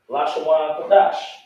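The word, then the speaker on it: Lashon Kodesh: That is the way you say Hebrew, or not exactly Hebrew, that's how you pronounce the language. Lashawan Kodash is not Yiddish.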